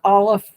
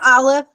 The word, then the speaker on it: aleph: we start with the aleph. What sound does aleph make? Does aleph make an ah? No, No. it's silent. Exactly. Aleph is silent.